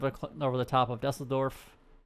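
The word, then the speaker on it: Düsseldorf: over the top of dusseldorf that's how you actually pronounce it over cologne and then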